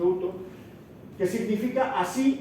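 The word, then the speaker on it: οὕτως: Porque en el original aparece un adverbio de modo, que es uto, esto se pronuncia uto, que significa así o de esta manera.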